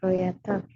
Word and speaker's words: creator: Creator content Creator ya bacanya creator creator creator i bukan O ya di Inggris jarang kalau o dibacanya o itu eh jarang engak kayak Indonesia O dibacanya O Bulat dia kayak e creator creator Yes creat